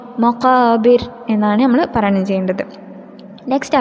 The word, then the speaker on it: مقابر: തന്നെ ആ ആയത്തിൽ നമ്മൾ ശ്രദ്ധിക്കേണ്ടത് മഖാബിർ ബിർ എന്ന റായിനെ നമ്മൾ കനം കുറപ്പിച്ചിട്ട് വേണം ഇര് എന്ന് ആയിട്ടാണ് നമ്മൾ പറയണം ചെയ്യേണ്ടത്. മഖാബിർ എന്നാണ് നമ്മൾ പറയണം ചെയ്യേണ്ടത്.